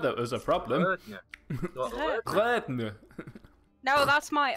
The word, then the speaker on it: Rødne: It's similar to the one that makes the IR sound in girl. It's the R that was a problem. Rødne.